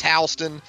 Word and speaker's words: Houston: give Colton a follow on Twitter at Colton Halston it's pronounced Halston spelled like the city Houston h u s